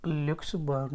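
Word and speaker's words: Luxembourg: France and Netherlands and लुक्स बर्ग spelling देख लीजिएगा एल यू एक्स ई एम बी ओ आर यूजी ठीक है ग्री Germany France Netherlands ए लुक्स बर्ग बोलते इसे तो यह चार पाच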